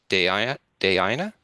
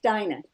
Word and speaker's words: Diana: Diana? It's pronounced Dinah. Oh, Dinah. Okay, thank you. Spelling and pronunciation don't match.